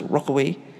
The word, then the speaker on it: Rechaweag: These poor bastards were called the Rechaweag, pronounced Rockaway.